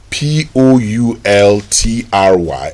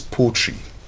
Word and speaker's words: poultry: That word p o u l t r y is poultry.